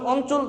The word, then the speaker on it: অঞ্চল: তোমরা যখন অঞ্চল দেখো, স্বাভাবিক দৃষ্টিতে দেখো যে স্বর অ ন চ ল অঞ্চল, কিন্তু দেখো এখানে ইও এর উচ্চারণ কিন্তু হলো না, কি হলো? দন্তের ন উচ্চারণ হয়েছে।